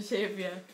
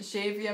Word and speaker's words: Xavier: I still, every single time I see the name, I still like pronounce it slightly differently. Like sometimes I'm in a Xavier mood. Sometimes I'm in a like Xavier, like a H sound on the X.